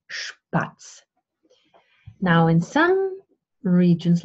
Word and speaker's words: Spatz: Okay, when you have the letter S plus a P, the S is pronounced like the sheep sound. So we have Spatz.